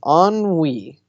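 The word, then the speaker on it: ennui: the way spelled to so the word is on we but it's spelled e in in you I ok I just love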